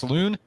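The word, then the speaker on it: Salaün: butcher his last name I believe it's pronounced Saloon out of France headed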